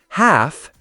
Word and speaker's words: half: Silent L. Calm. Say cam. Half. Say half. Talk. Say talk. Silent L happens a lot. Learners often over pronounce it. But if you want to sound natural, just skip the L.